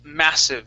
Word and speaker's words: massive: This word here is pronounced massive, so the stress is at the beginning.